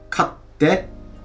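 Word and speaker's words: 買って: this into base te, so that u is going to become small tsu te, which means katte, katte. You hit that sound and stick it and then pronounce it.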